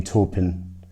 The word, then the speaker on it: Taupin: sorry about that I looked up the correct pronunciation and while we're talking Wellman's on the subject it should be Bernie Taupin knocked open who who wrote the lyrics for